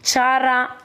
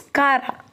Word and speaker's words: Chara: They give rise to branch and they are filamentous like Chara, or you can pronounce Kara. Both the pronunciation is correct.